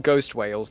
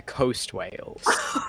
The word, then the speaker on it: Coast whales: the very first session they're not ghost whales they're Coast whales Oh e o a s uh that makes sense